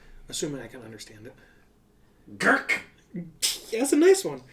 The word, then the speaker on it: Gurk: Gurk. Yeah, that's a nice one. Sorry. Yeah, Gurk. We'll go Gurk.